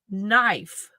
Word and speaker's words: knife: we pronounce this word knife how do you spell that oh of course with a K oh but the K is silent so I I remember